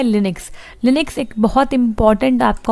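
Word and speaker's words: Linux: देखो यहाँ पे है लिनक्स प्रोनाउंस्ड लिनक्स।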